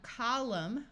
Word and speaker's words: column: hear the n Sound here we have column with a silent n and when we add